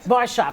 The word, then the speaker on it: Barshop: Zarin, Kelly Ben Simon, Alex McCord, and Cindy Barshop. Is that how you say it? Barshop. Barshop, Yeah.